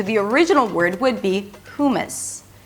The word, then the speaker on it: hummus: So a lot of Americans pronounce it like this: 'hummus', 'hummus'. But the closest pronunciation to the original word would be 'huw-m's'. It's an H sound, than the 'oo' as in "food" - 'huw', and the second syllable is m's-m's.